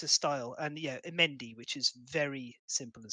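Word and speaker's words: Mehndi: It's a Mendy. It's actually misspelt in Kingdom Death. It should be M-E-H-N-D-I, but it's spelled M-H-E-N-D-I, You've seen them before.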